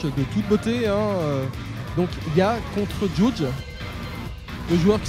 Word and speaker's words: Yaj: Et c'est Yaj YAJ. Let's go. Et on continue donc avec un match, encore un très bon match. Donc avec Yajli. On prononce que Ya.